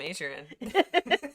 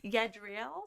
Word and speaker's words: Yadriel: His name is Yadriel. What? Yadriel. I'll call him Adrian. Yadriel.